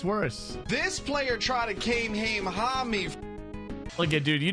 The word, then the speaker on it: Kamehameha: Look at Kamehameha. God. I mean, to be fair, it is kind of hard to, you know, if you've never heard it pronounced, I could see it being mispronounced, but still, you know.